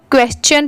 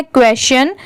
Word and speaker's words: question: ये है क्वेश्चन, इसे बहुत सारे लोग क्वेश्चन पढ़ते हैं, बट वो रॉन्ग होता है। इसकी प्रोनाउंसिएशन है क्वेश्चन, QUESTION, क्वेश्चन।